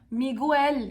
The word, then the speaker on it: Miguel: şunun altını çizmek isterim İspanyolca telaffuza yeni başlayanlar miguel yazısını gördüklerinde yazılışımız şu anda söylüyorum ha Dolayısıyla İspanyolca yazıldığı gibi okunmayan bir dil doğru miguel yazılıyor Evet hiç bir zaman u sesini burada vermiyoruz g u e harfleri